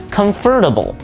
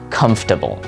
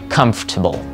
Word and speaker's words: comfortable: bit confusing, especially because there is an OR directly in the middle of this word, which makes a lot of people say it as comfortable. And although this is a pronunciation that is somewhat accepted, there is a more common pronunciation that I would recommend for you to use. And that pronunciation is comfortable, or comfortable.